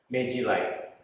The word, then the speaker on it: Magiline: Oke, ngomong-ngomong, Ivan ini dari apa sih dibacanya? Merek produk kita Magiline.